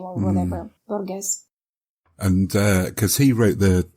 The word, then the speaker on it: Borges: Oh, you mean Borges? Yes. I think that's how you say it. I forgot the middle name or whatever. Borges.